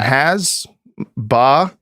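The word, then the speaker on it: hasbara: Yeah, it's Yeah, that's I mean, listen sound and the Yeah, the you know, with the end of the the throat. Um, has ba.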